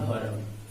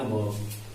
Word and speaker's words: verb: जैसे हम लोग पढ़ते हैं हेल्पिंग वर्ब, लेकिन बहुत सारे लोगों का पढ़ना रहता है भरब, इसको पढ़ते हैं भरब। तो ये भरब ना होकर के जो बीच का लेटर है ना, ये साइलेंट रहता है, और इसको अब हम लोग पढ़ते हैं वर्ब।